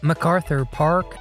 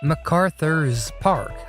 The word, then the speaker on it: MacArthur Park: Harris even mispronounces MacArthur Park as MacArthur's Park throughout the entire song, which just adds insult to dumb injury.